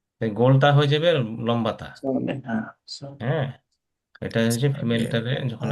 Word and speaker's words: صالحات: সলিহাত হ্যাঁ, এটা হচ্ছে ফিমেলটারে যখন আপনি صالحات প্লুরাল